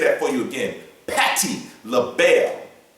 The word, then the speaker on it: Patti LaBelle: Patty label. Patty label.